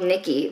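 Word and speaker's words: Knickey: closet um i forgot about this brand called nikki they are in uh like an underwear brand it's spelled k-n-i-c-k-e-y and they will recycle your like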